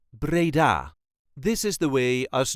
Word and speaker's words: Breda: brabant and is called braa this is the way us duchies say Brea Brea there is a light emphasis on the last syllable Brea Brea all the